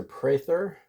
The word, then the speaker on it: Prather: my name is Professor Prather it's pronounced with a long a like you pray in church pray third even though there's no y in the spelling a good way to